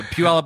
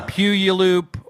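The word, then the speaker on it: Puyallup: And most people call it Puyuloop or something like that.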